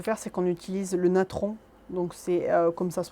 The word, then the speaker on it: natron: Ce qu'on peut faire, c'est qu'on utilise le natron. Donc c'est comme ça se prononce, Natron.